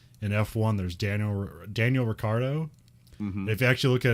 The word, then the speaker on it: Ricciardo: ricciardo and it's like it's okay it's ricardo because i guess his dad's italian so like in italy he'd be ricciardo but like in australia